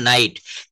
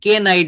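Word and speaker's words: knight: এন আই জি এইচটি আমরা এটা উচ্চারণ করছি এন থেকে ইংলিশের এই যে একটা লেটার এন এখান থেকে আমরা বলা শুরু করতেছি নাইট নাইট আমরা কিন্তু কে টাকে বাদ দিয়ে দিচ্ছি কে নাইট বলছি না আমরা কি বলছি নাইট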